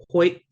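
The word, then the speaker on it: huyʔ: And you will always hear people pronouncing it like this, Hoyt, Hoyt. It's not how it's supposed to be pronounced. There's no T at the end.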